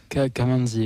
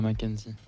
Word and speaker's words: Kamanzi: Kamanzi et pas Mackenzie.